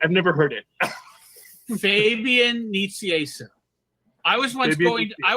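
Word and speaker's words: Nicieza: I have to know is it Fabian Knight Sai and I said Nita and he said and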